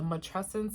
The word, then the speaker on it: matrescence: Okay, so matrescence, it kind of rhymes with adolescence.